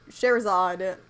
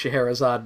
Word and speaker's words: Scheherazade: And Sherazade kept herself from being executed by telling him